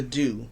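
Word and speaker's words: Doux: leave-in conditioner, and the Dew, the mousse, the honeybee mousse by the Dew. And the Dew, of course, is spelled D-O-U-X.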